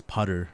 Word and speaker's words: Putther: know my name is Putter and rhymes with butter someone who doesn't know they would pronounce it like pter but it's actually pter the H is silent which is why the